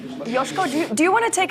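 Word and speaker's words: Joško: Correct pronunciation is? Josko. Josko.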